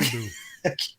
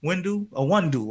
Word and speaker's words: Iwundu: Iwundu. Wes Iwundu. Oh, that's he like your boy for Star Wars. Like what his name was? Windu? Iwundu.